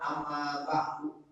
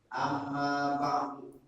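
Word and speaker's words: أما بعد: Nah ini makanya kalimat amma ba'du biasakan kita membacanya amma ba'du, jangan amma ba'du.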